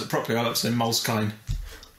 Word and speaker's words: Moleskine: past so buy a moleskin notebook s pronounce it properly Alex in Moleskine because it has a knee on the end for some reason can